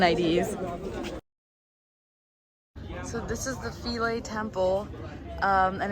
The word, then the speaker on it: Philae: It's Philae Temple, for which we have to go on a ferry. And also remember, there's a student discount, so get your student IDs. So this is the Philae Temple, and it's pretty astounding.